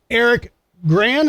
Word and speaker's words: Eric Gran: Eric Graham, is that how I'm pronouncing it correctly?